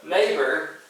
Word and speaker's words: neighbor: So, neighbor, but neigh, the way you say the word, it's a long A sound even though it's EI, but it's in that order because it makes the long A.